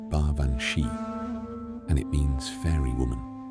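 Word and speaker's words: Baobhan Sith: The name is Gaelic, pronounced baranchi, and it means fairy woman, which is a deceptively gentle way of describing something that is not gentle at all.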